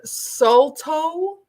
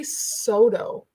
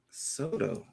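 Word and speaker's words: Stó:lō: want it absolutely um so that word sulto is how some people say it it's actually sodo soto soto that's a whole nation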